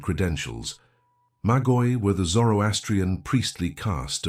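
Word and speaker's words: μάγοι: The word is Magoy. Two syllables. Magoy.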